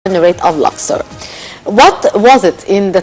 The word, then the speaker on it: Luxor: Or Phoebus or Tiba in Arabic, yes, or Luxor now. Yes. So first, am I pronouncing its name right?